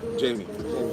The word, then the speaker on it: Jaime: Jamie. For those of people that can say it like that, if not, it's Jaime.